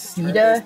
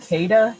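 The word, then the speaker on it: Caeda: Together, you'll That's pronounced Sita, not Kata.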